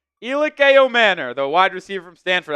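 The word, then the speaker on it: Ayomanor: Oh, the Titans just traded up and they took Elic Io Manor is how you say it. Elic Ao Manor, the wide receiver from Stanford.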